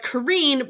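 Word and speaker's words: Karin: Triptych by Karen Slaughter. Is it Karen? It's Krin. I still think it's Karen. The audiobook narrators say Karen, but she says it in YouTube as Kareen, but then I've heard,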